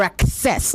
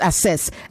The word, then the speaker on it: access: Or access. Not assess. Access. You access something.